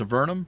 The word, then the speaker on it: Avernum: It's Avernum, not Avernum.